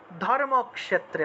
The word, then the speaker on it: ধর্মক্ষেত্রে: কুরুক্ষেত্রে সামবে ঠিক না আমরা ধর্মক্ষেত্রে না বলে উচ্চারণ করব ধর্মক্ষেত্রে অর্থাৎ অর্থাৎ এই খিয় টা ক যোগ মূর্ধন্য তে ভেঙে যাবে খিয়